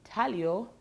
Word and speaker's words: intaglio: now in size or intellio block printing in tahlio it's spelt intaglio but pronounced intaglio yes in size